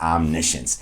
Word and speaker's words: omniscience: We also know words like conscience, where we also have a syllable that looks like science.